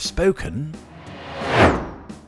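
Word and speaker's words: Spokane: definitely pronounced spoken and rhymes rather more innocuously with every German composer not called Ludwig and so that's my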